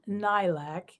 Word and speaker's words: lilac: Persian lilac and Arabic layak equals Old English lilac. 2 syllables with lilting L's, a restive lie fading into short A and hard C.